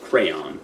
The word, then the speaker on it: crayon: then like words after Crown listen we're from Philadelphia and we say it's I think it's supposed to be pronounced crayon but we say Crown yeah I say crayon like a normal person well you know what